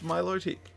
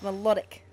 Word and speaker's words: Milotic: been telling you no that's not how i pronounce it it's milotic it's melodic camera i'm assuming you're